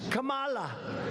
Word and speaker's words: Kamala: tried to interrupt him no my name was kamala like comma i remember that like